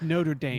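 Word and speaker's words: Notre-Dame: dame um oh sorry can you say it properly no notre dame notre dame it's notre dame notre dame never game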